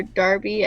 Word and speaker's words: Derby: So for part of our requirement, we had to talk to somebody from Derby University, or Derby, I guess how they say it there.